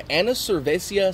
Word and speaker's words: Annivercervesa: It's called the Annivercervesa Stout. Or Annivercervesa. Not Annivercervesa. I'm not 100% sure how to pronounce it, but I guess it's like the Spanish word for beer, cerveza, and anniversary, Annivercervesa.